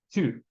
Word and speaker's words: two: Geralmente as pessoas elas falam um som de chu, tipo um TCHU, chu. Mas a pronúncia é two.